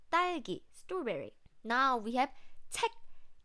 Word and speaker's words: 책: It's not check, check, check. It's check. So we don't have the k sound.